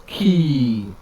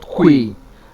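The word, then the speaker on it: quay: That is the correct, not que, as people will pronounce it, key. It has the same sound production with the word called key that we use to open and lock door, or open and unlock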